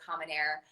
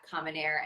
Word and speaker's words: Common Heir: meantime you can follow common air um and get a better sense of all the amazing things that they're doing and it's at common air and like kerry said air is spelled h-e-i-r um which as at